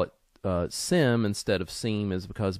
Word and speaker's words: SIEM: go over the concepts and design of utilizing Sim and sore uh also be advised that Sim is sometimes pronounced seam it's kind of just depends on uh who